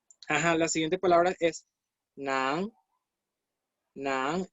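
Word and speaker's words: 男: Nan significa varón. Este carácter que está acá adentro, en el carácter de novio, es justamente este. Es este mismo. Se pronuncia N-A-N en segundo tono.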